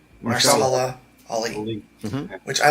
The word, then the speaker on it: Mahershala Ali: Marsala. Mahershala Ali.